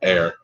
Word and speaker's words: Ar: the dwelling of air ar so i pronounced air and lies in the